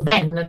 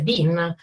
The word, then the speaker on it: bin: In realtà loro intendevano il cestino, che in inglese si dice bin, solo che la loro pronuncia con la E aperta al posto della I insomma, mi ha fatto perdere,